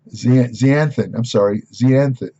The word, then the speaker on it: zeaxanthin: Zeaxanthin. No, it's zeaxanthin. I want to make sure I get the pronounce.